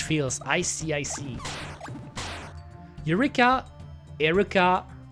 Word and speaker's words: Eureka: Eureka Erica E K. No, don't call me like that, Barisu. Please don't don't call me like that. My name is Eureka, not Urki.